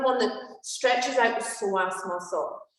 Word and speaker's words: psoas: Again, this is another one that stretches out the psoas muscle. It's your muscle of your soul. Spelled with a P, the psoas muscle, which is very interesting.